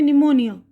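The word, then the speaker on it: pneumonia: निमोनिया तो यहां पे पी स्पेलिंग जो शुरू होती है पी से लेकिन हम पढ़ते हैं निमोनिया ठीक है अब उसके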